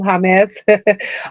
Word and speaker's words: James: husband told me his the real way to say his name, Jamez.